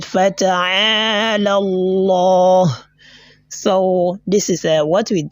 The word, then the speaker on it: Allah: I said Fata'ala Allah. So this is what we done to the lam there. That is the heavy pronunciation of this lam in the word of majesty is known as a at-tafkhim, right?